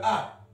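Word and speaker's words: ה: Pour le A, il mettait un Hé. Comme ça, le Hé, ça se prononce A.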